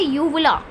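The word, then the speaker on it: uvula: इसको हम कहते हैं यूवला। और अगर हम यू को साइलेंट करें, भाई हमारी प्रोनाउंसिएशन नहीं है भाई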